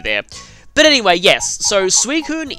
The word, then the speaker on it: Suicune: but anyway yes so suicune is actually meant to be suicune that's actually how you pronounce it now I always